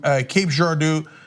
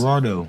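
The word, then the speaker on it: Cape Girardeau: spite of reports uh I will be doing a live show from Cape jardo I think that's how it's pronounced Gerardo Gerardo because you're from Missouri you know uh I was going to go with Gerardo but I was pretty sure that was better that one okay uh Gerardo and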